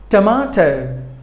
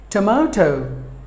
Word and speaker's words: tomato: spinach were number nine tomato tur ma toh tomato this word contains three syllables but the stress falls on the second syllable MA tomato but the Americans will pronounce this word as tomato tap may Doh tomato the T will